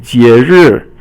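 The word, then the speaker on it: 节日: 节 is second tone, and 目 is fourth tone, and it just means a program. And then 节日.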